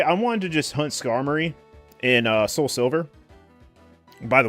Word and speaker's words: Skarmory: We always would pronounce Skarmory, because Skarmory is the correct pronunciation. I would call it Skymori.